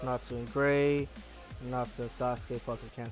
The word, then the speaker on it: Sasuke: And I think it pisses me off when folks try to say Sasuke's name and they say Sasuke. They're trying to say it the way it's spelled. It's Sasuke, not Sasuke.